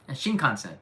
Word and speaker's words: Shinkansen: Shinkansen, yeah.